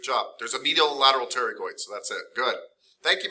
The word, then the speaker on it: pterygoids: yeah that's good though you're right the p is silent the dress didn't open it's all right good terry coits medial and lateral pterygoids yeah because the one